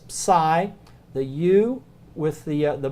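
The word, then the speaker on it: psi: that common but it the closest English word you can associate with it is pseudo so it's sigh the you with the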